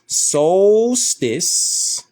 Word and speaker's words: solstice: what we was doing Solstice pronounced soltice is one of the